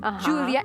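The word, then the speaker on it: Júlia: is good it's good in catalan it's julia they pronounce the j julia and in spanish it's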